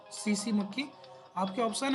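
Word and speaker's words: tsetse: पहुंचाने का काम करेगा यह सीसी मक्खी टी साइलेंट है सीसी मक्खी आपके ऑप्शन है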